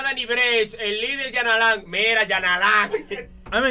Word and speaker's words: Yanalán: Se acentúa en la última A. Se escribe con Y.